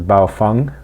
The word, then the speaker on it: Baofeng: It's called, I believe correct pronunciation is Baofeng, but it's spelled Baofeng.